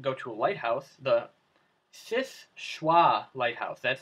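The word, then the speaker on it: Seul Choix: number 8 would go to a lighthouse the SIS choix lighthouse that's how it's pronounced hey sprouts is schwa French it's near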